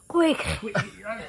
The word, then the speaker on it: Quaich: How do you pronounce it? Quaich.